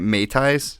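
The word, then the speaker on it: mei tai: about things like am I saying it right May ties yes all right and Rings slings and even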